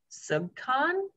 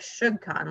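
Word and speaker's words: SUGCON: have to correct me is it pronounced sub con is it yes jim's okay because it looks like should con like sugar but that doesn't make sense so um global virtual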